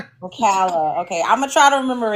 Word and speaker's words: Ocala: Hey, see now I don't know cuz I always say a girl, but I know it's pronounced a different way. Oala. Ocala.